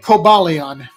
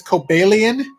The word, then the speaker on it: Cobalion: sense to me like like Cobalion apparently that's not the right way to say it the correct way to say it is coelan but the name comes